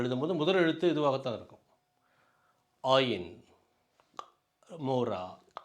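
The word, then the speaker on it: עין: இந்த எழுத்து ஏற்கனவே ஆலேஃப் என்ற எழுத்தை பார்த்துருப்போம். அதே போல் இது சைலண்ட், இது சைலண்ட் லெட்டர், அது உச்சரிக்கப்படாது. ஆனால் சில நேரங்களில் மட்டும் உச்சரிக்கும், ஆனால் பொதுவாக அது உச்சரிக்கப்படாது என்று சொல்வார்கள்.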